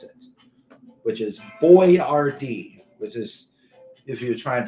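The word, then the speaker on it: Boyardee: if it was like a uh how to pronounce it, which is Boy Rard, which is if you're trying to look at the actual name is trying to figure out it's properly pronounced.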